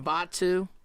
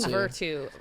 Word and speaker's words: Batu: My man Batu. I can say his name now. You can. Oh, yeah. He was saying Virtu for a little while.